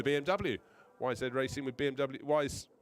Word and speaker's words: YZ: Wise Racing, as it's spelt YZ but pronounced Wise Racing.